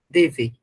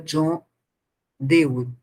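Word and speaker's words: John Dewey: de né John de eu tenho o hábito de chamar Dev né mas se pronuncia John de e ao considerar a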